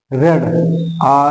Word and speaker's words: read: ही हैड रेड, READ, spelling वही होता है और कहने का स्टाइल बदल जाता है।